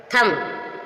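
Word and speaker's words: thumb: डम डम मींस गूंगा एम के बाद भी साइलेंट है यहां आपने देख थम थम मींस अंगूठा एम के बाद भी साइलेंट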